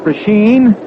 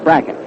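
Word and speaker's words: Brecheen: Louis is Bracken. Brechen. A lot of folks call it Brachine, but he says that he and his family call it Bracken.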